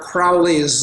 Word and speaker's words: Crowley: And, earlier we were talking before this show started about the law, and you mentioned Aleister Crowley's, or Crowley is the correct way to pronounce that, actually, what was the quote from him?